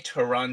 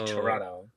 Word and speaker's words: Toronto: say they don't say Toronto toe. Correct me if I'm wrong. They say Toronto. They like the the the other T is silent.